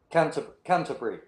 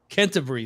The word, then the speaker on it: Canterbury: How would you pronounce Canterbury in the UK? Yep. Canterbury. Canterbury.